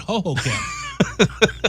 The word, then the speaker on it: Hohokam: park ho ho cam you sure it's not supposed to be ho hokum i don't know it's supposed to be but harry kerry called it hohokam see there you go